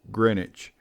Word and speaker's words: Greenwich: probably heard of it it is pronounced grenwich people display their paintings